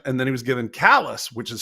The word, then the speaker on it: Calais: is more French and then he was given callous which is spelled like Calais and so he made him